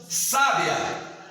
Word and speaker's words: sábia: Sábia, está no sa, a sílaba tônica.